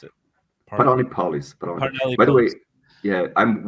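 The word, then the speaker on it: Paralelní Polis: How do you pronounce it? Parnelli Polis.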